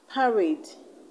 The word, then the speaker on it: parade: we have decade parade per these are words that end in ade and you have to stress the last level so indicate this level